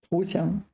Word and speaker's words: 投降: This is one of the rare times when this is not pronounced 降. It's pronounced 降, 投降, surrender.